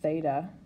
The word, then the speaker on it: theta: and it is a greek symbol it's actually pronounced theta and we use just a theta instead of